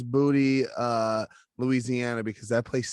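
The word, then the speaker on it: Boutte: booty louisiana hanville high school well yeah it's booty uh louisiana because that place sucks ass i'm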